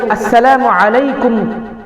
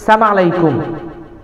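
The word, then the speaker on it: السلام عليكم: আমরা কেউ আসসালামু আলাইকুম এরকম না বলে থাকি সালাম আলাইকুম। সমাজের আম মানুষ যারা আছে তারা সাম আলাইকুম বলে বাসলাম আলাইকুম এরকম কিছু পরিভাষা তারা ব্যবহার করে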